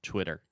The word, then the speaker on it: Twitter: Okay, the first sound, twi. Twi. Tur. Okay, but when you say it fast, the second T will be a little bit softer, so Twitter.